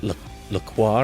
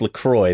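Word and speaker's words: LaCroix: family always pronounced it laqua or whatever and I always pronounced it lroy and I found out that it is uncultured swine it is actually pronounced lroy they tweeted no lroy rhymes with enjoy no it's laqua they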